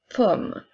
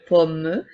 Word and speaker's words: pomme: Ensuite, nous avons une pomme. Alors, encore une fois, les E à la fin des mots ne seront pas prononcés pour faire une pomme, mais bien une pomme.